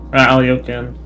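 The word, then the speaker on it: Alekhine: And do the alkynes, Alyokin, that's how it's pronounced.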